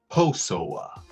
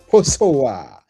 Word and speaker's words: Kposowa: yeah, it starts with a K, but the K is silent. You Oh, pronounce Posowa. Posowa.